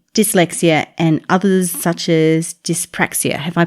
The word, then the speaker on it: dyspraxia: autism adhd add dyslexia and others such as dyspraxia have i pronounced that right yes you have i don't